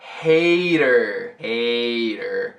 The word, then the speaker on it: Hader: Primeiro o Bill, você sabe como pronunciar? Hader.